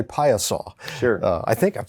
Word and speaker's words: Piasa: service to the community by phonetically spelling it on the billboard out in front of the out in front of your office so now more people know how to say paya saw sure i think i'm